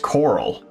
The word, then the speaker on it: choral: Oh, and it's pronounced coral.